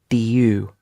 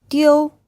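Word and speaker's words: 丢: it to be pronounced do you but actually its deal so it's a little bit like there's an E and then an O the u sound here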